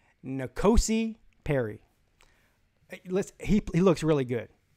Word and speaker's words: N'Kosi: at N'Kosi Perry, and I finally learned how to say the guy's name correctly, and so you will never hear me mispronounce it again. N'Kosi Perry.